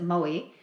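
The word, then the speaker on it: Mowi: Farms owned by the Norwegian company Maui or as they would pronounce it Maui lost 2.6 million fish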